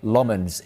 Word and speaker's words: Lammens: the window, but United opted to sign center Lmens instead.